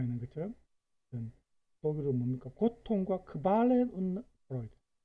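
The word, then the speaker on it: Qualen und Freuden: 고통과 크발렌 운 프로이드. 발음할 때 주의해야 되죠.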